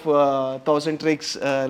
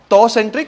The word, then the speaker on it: Thoucentric: the entire team of Thoucentric Labs. Thoucentric or Thoucentric? How do you pronounce it? THOU, the Shakespearean thou. Okay. Thou shalt not kill, thou shalt not commit adultery. That thou. Yes.